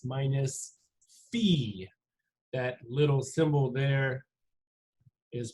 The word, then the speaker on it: phi: form y equals s of Omega x minus Fe that little symbol there is pronounced Fe and then of course the fancy W is